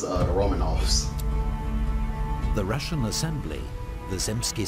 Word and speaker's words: Romanov: So that's how you pronounce it, Romanov.